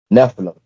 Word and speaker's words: Nephilim: Nephilim. It's It's I don't know how exactly how you spell it. It's ne p I l Something like that. I'll put it up here, but it's Nephilim, basically. Nephim.